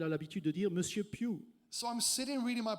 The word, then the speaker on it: Pugh: It's pronounced Pew. It's a Welsh Alors word. on prononce cela Pew parce que c'est un nom gallois.